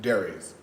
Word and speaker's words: Darius: My name has three syllables. Dare re. Yes. Right. Darius. The old saints, for whatever reason, they don't have the capacity to say three syllables.